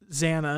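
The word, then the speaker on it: XANA: girl and she has a teddy bear and zanna is that how you say it yeah zaina the computer program takes advantage of her being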